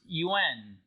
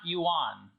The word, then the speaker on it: yuan: are in chinese un it's pronounced un not yuan but i converted all